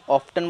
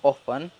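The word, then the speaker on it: often: एंड ऑफन, देखिए इसे दो तरीके से प्रोनाउंस किया जाता है, कई लोग ऑफ्टन बोलते हैं और कुछ लोग ऑफन, तो दोनों तरीके सही है, पर ज़्यादातर इंडिया में ऑफन ही बोला जाता है।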